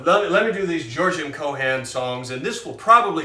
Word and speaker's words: Cohan: fun of you but a lot of people spell it cohen c-h-c-o-h-e-n well that would be a jewish fella and uh it's kohan it's he was an